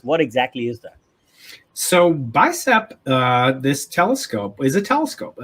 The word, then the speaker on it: BICEP: the book i i don't know we should pronounce it bicep and bicep one and bicep two right so